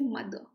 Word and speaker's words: mother: Jaise mother. Okay, mother mein you can note ki jo r hai, the r is silent. You don't pronounce the r, you don't say mother, you say mother.